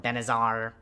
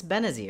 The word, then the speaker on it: Benazir: grace that it needs they call it benazar bendazir i don't know why they're adding extra letters to the name but it's benazir it's pretty easy to pronounce and it's still pretty